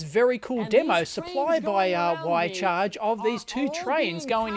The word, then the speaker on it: Wi-Charge: Same thing that Y-Charge, yes it is pronounced Y-Charge, I have been reliably informed by the company, and it also works.